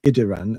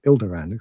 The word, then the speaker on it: Idiran: incorrectly cuz I insert I inserted an L where there is no L. And it's it's Idiran and I kept pronouncing it as Ildiran cuz I cuz that's how I read it for 30 years.